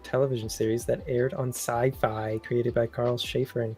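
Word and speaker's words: Syfy: series that aired on sci-fi created by Carl Schaefer and Craig inler the way you said sci-fi wow it's spelled sy yfy so how else would you say it SciFi SciFi it's like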